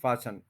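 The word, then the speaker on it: fasten: फैशन का बहुत अच्छा इसमें ये बात याद रखनी है कि जो टी है वो साइलेंट है फास्टनर फास रेगुलर वर्ब है फास फसन तो जब मैं एरोप्लेन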